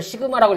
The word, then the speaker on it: 시그마: 이걸 시그마라고 읽는다 했죠. 앞으로 읽으시면 시그마 그러면 돼요.